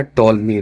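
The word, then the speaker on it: Ptolemy: था वह दिखाया था टॉलमी ने ठीक है इसमें कंफ्यूज मत होएगा पटोल में मत बोलिएगा पी जो है साइलेंट है तो टोलमी ने इंडिया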